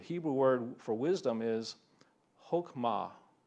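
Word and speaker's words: חכמה: The Hebrew word for wisdom is Hokmah. It's actually pronounced more like Chokmah, related to a feminine term through Hebrew wisdom literature.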